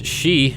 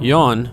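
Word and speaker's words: 四: It's pronounced as shi, the same pronunciation for the character that means death. This number has an alternative, more common pronunciation, yon, because shi comes from Chinese.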